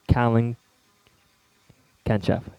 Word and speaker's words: Kalin Genchev: may be ladies and gentlemen I bring you cowling catch F is am i pronouncing your name right yes okay thank you